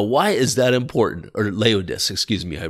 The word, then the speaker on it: Laodice: He had a bride and her name was Laodice the Fourth. Now, why is that important? Or Laodice, excuse me, I mispronounced that.